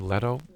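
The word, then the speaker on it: Leto: If that was not in the site, question next week, Jared, is he pronounced name? Letto.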